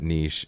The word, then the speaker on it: niche: back and forth on niche niche yeah yeah yeah we pronounced it niche in canada it's a french it's always fun in